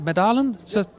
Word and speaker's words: Medalen: Medalen? That's correct? Okay, I even pronounced it correctly.